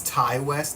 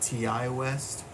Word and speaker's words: Ti West: I want to say his name is Tai West not TI West so we're going to